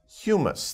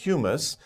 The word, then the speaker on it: humus: word before it's humus humus the pronunciation is humus sometimes people get a little confused about that but humus think about another word that's pronounced very similarly but is a different word human but this is humus